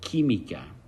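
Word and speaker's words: química: um losio sociales and remember it's not it doesn't quack when you have a Q in Spanish it's a k sound so kimik here we're bringing back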